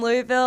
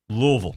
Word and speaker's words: Louisville: 14 Louisville at number four Florida state Florida State's favored